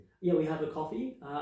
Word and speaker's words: Ko-fi: Yeah, we have a coffee. Uh I think it's coffee. Yeah, like as in buy me a coffee type of thing, which is spelled weird, which adds confusion, but tell me more.